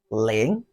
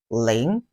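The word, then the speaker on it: 零: ten let's quickly start zero in chinese is pronounced as laying repeat after me and watch my mouth lane just in case is difficult for you to record you can use the link in linguistic to record the number link and it has the thought tone of chinese language which is the fallen rising tone laying laying one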